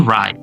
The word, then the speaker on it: right: That's exactly right. Nah, itu tuh benar banget artinya seperti itu ya. Itu sangat tepat. That exactly right. Oke, jadi diulang gh-nya hilang ya dan i-nya dibaca a. Right.